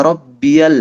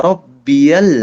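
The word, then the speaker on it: ربي: Subhana rabbiyal azim. Wo, wi. Subhana rabbiyal azim. Common mistake selanjutnya adalah ba-nya tidak ditasydid. Jadi banyak yang bacanya Subhana Rabbiyal, salah. Yang benar Subhana Rabbiyal, ro masuk ke ba.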